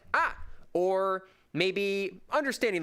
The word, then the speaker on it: a: First, there's the word ah, which is spelled a.